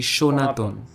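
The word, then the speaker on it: সনাতন: use the word sir but the pronunciation of the word happens to be shonaton linguists suggest that the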